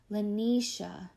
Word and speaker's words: Lanisha: who calls my name drawing out the third syllable like the AH sound Lanisha I feel good inside